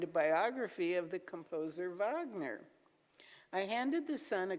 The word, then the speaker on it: Wagner: biography of the composer Wagner. I handed the son a couple of books that seemed for about his age, and he refused them. No, Wagner with a V.